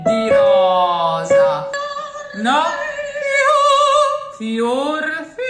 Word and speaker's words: fior: Fior, Fior, closer to a U.